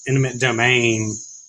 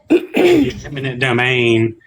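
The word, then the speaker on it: eminent domain: and states are taking land and um in intimate domain intimate domain is that how you say it imminent imminent domain uh then using that land for these data centers and things like that.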